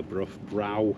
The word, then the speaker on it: Brough: Is it Brough? Is that... Brough, yeah. It's spelt weird, isn't it? Well, brow, it depends. Do some people say brow? Not that I know of, not here, because obviously they know.